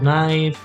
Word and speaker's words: knife: say no so so in english we have a k n okay n words all these silence okay so we say nine we say knee knot knife knitting knock we never